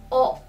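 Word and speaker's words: を: Dan partikel tanda kata kerja itu dalam hiragana dibacanya wo, tapi dalam partikel dibacanya dengan o.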